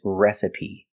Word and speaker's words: recipe: beans let's get started our first word is recipe that's right the e at the end is pronounced with a long e like green beans recipe so the first syllable is a short e like red and bed re s the second syllable is a short sound I like this is rest and the last is PE like green beans re the dress is on the first syllable recipe recipe I know a